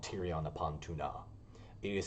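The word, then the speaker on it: Túna: it's called tyrion upon tuna it is spelled t-u-n-a um but i put more emphasis because i think it's very weird that it is pronounced tuna um so i just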